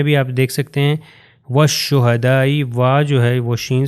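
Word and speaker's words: والشهداء: والصدیقین۔ اگلی میں بھی آپ دیکھ سکتے ہیں والشہدائی، وا جو ہے وہ شین سے مل جائے گا اور تلفظ ہو گیا والشہدائی۔ اور اگلی ایگزامپل جو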